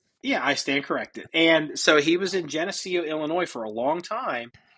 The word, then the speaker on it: Geneseo: Well, he was in Genesco. How do you say it? Genesco. Geneseo.